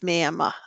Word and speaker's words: Miami: They spell it Miami, but they don't say Miami. It's Miami. We were corrected when we said that up there.